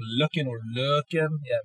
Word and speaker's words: Løkken: It's day number two in Løkken, and we are trying out some really cool DJ equipment.